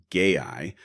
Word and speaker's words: GAI: They're calling it GAI, pronounced gay-eye, to help with better matches, smarter conversations, and even a new health center for sexual wellness info.